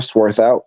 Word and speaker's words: Swarthout: are yeah absolutely uh my name is sworth out so Jason you actually did pronounce it correctly um so good job there